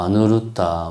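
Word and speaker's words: Aniruddha: 뭐 그런 이야기를 하고 싶어 하는 거죠.에이 에이 아나요 존자는 이제 범 그 산스크리스도는 뭐 아누르다 뭐 이런 식으로 발음하는데 엄청나게 복이 많은 양반이에요.에이 안난 아 안나율 존자도 부처님과 같은 습가족의 왕조 왕자죠.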